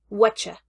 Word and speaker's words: whatcha: you with a sound of CH between them, and it's whatcha. Whatcha. Now, the piece here in the middle will be the auxiliary verb, but it's completely deleted. It's completely gone in this reduced pronunciation.